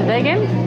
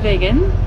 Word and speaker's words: Wengen: Also, if you're wondering, the W is pronounced with a V sound in German. We just got to Wengen.